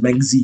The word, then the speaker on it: Mengzi: But I know how to pronounce out Lao Tzu and Sun Tzu, just Mengzi, because it's spelled M-E-N-C-I-U-S. So I was thinking Mencius, you know, because we're weird.